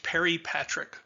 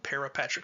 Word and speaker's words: peripatric: pop up here shortly that sounds the same in conventional american slurring of the english language peripatric speciation peripatric speciation which is spelled p-e-r-i instead of p-a-r-a um as we get